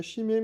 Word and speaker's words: Chime: Ça se prononce pas chimé non ça se prononce bien chim en chim.